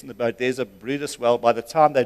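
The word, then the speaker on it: Bryde's: It's called a Brutus Whale. It's spelled Bride's Whale.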